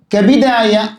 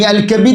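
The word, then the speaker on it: كبد: ഈ അൽ കബീദ് എന്ന വാക്കിൻ്റെ പ്രസിദ്ധമായ ഉച്ചാരണം കതിഫ് എന്ന വാക്കിൻ്റെ വസ്നാണ്. അൽ കബീദ്, കതിഫ് പോലെ.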